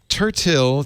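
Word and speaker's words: Tertill: point west point um tertil t-e-r-t-e-r-t-i-l-l like pronounced turtle it's got a little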